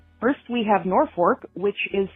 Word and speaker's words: Norfolk: names first we have Norfork which is spelled Norfolk but pronounced Norfork and if you say